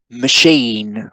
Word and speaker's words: machine: So machine, machine, right? The first syllable isn't stressed, right? And so we say machine, machine, machine.